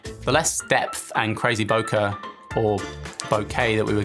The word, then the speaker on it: bokeh: the increase in the bokeh that we'd be getting or bokeh which i learned earlier this year is how it should be pronounced don't see that catching